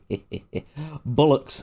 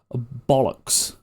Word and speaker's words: bollocks: Bullocks, am I in England? Well, you might as well be. Absolute, and it's pronounced bollocks.